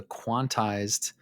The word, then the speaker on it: Quantixed: I found a post by Steven Royal who's the author of the quantized blog. I believe that's how it's pronounced, but the the uh Z that you hear in that is actually an X.